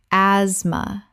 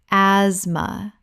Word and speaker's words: asthma: asthma Correct pronunciation. asthma The t h is completely silent. This is a two-syllable word.